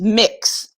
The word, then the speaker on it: Mx: on there but leslie how do you pronounce mx i believe it's just mix just like you would kind of think instead of saying mx would be mix and for those of